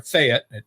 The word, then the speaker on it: Fayette: I live in Fayette, Alabama, or as we call it there, Fayette. You say it like it's spelled F-E-T.